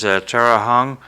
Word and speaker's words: Tara Hong: down in Florida and uh Our Guest is Tera Hong am I pronouncing your name right yeah ter okay uh